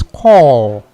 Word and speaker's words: corps: Okay, so when we refer to the call, Call without which the is without the E, which is Yeah. the C O R P S. S, Call.